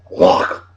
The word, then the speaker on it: Loch: It's not Loch, it's Loch. They pronounce it Loch, and they made sure we pronounced it that.